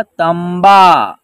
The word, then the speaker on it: तंबा: यहाँ जो है त के ऊपर जो एक बिंदी है, यहाँ आधा म का उच्चारण होगा, तंबा।